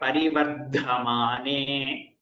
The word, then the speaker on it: परिवर्धमाने: Repeat the word parivardhamane. Parivardhamane. So you're able to tell that Mahaprana. Give that much effort into that Mahaprana everywhere, wherever the Mahaprana comes.